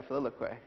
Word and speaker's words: filioque: a defense of the Western idea of the filioque. Am I saying that right? Yeah, filioque, yes.